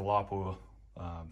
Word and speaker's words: Lapua: Same thing for Lapua. There we go, pronounced it correctly that time.